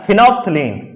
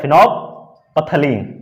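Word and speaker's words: phenolphthalein: Orange और दूसरा है फिनोप्थलीन, इसको बोलते हैं फिनोपथलीन। चूंकि बोलता है फिनोप्थिलीन, लेकिन इसको बोलेंगे फिनोप्थलीन, पी यहां पे साइलेंट होता है, फिनोप्थिलीन क्या बोलते हैं इसे, फिनोप्थिलीन।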